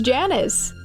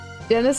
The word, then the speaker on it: Janus: Janus is a Roman god, so technically it is Janus. Janus? Okay. Janus would be Latin pronunciation.